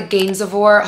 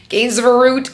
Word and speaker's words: Gainsborough: So we're staying at the Gainsborough Hotel. It was so hard for me to say it at first. I was like, Gainsborough, but it's pronounced Gainsborough.